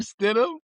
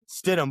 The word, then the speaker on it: Stidham: I've asked that dude probably 6 times how to pronounce that backup quarterback's name, and I still forget it, bro. It's, Jared Stidham. Stidham.